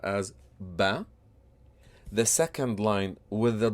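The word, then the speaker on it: بَ: If we put all these together on the first line, the short vowel fatha, which is a dash or a straight line on top of the letter, will make the pronunciation ba.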